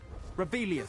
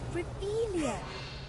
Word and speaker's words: Revelio: Rebellion. Saying it wrong. Revelio. Ugh, Revelio.